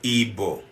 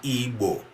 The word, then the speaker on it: Igbo: that any Igbo born would follow this erroneous pronunciation of our name. We are not Igbo, we are Igbo.